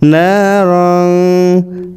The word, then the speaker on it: نارا: ذات لهب سيصلى نارا এখানে রং কেন অস্পষ্ট উচ্চারণ, রজে যাব রং ছিল কিন্তু রং এটা হচ্ছে ইকফা গুণ, এই তানবীরের বামে জাল ইকফার হরফ আছে, তাই রং এরকম উচ্চারণ হবে। নারং যাতা লাহাব সায়াসলা নারং